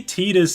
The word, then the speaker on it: Tidus: You're pronouncing Tidus wrong. You cannot... They say Tidus in Dissidia. Like, they say it like that.